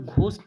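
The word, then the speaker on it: ghost: ये वर्ड लिखते हैं इसमें ना एच साइलेंट होता है एच क्या होता है साइलेंट होता है जिसकी वजह से हम घोस्ट ना पढ़ के घोस्ट पढ़ते हैं क्या पढ़ते हैं घोस्ट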